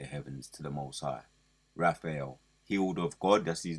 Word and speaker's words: Raphael: It's Raphael.